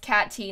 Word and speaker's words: Katie: your name is Katie my name is Katie pronounced Kat T not Katie love you so did